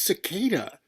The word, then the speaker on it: cicada: I'm sorry I was rude to him, but it's pronounced cicada.